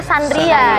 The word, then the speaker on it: Candria: Tulisannya tuh Chandria, tapi dibacanya Sandria ya.